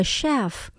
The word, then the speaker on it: chef: Đầu bếp hoặc là bếp trưởng là a chef. Từ này bắt đầu bằng chữ ch, mình đọc là âm sh cong lưỡi các bạn nhé.